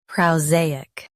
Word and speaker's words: prosaic: Prow, zay, uk. PROSAIC. Stress zay. Keep uk soft, not hard.